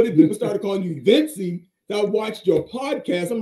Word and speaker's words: Vencie: Pronounce it. It's Vencie.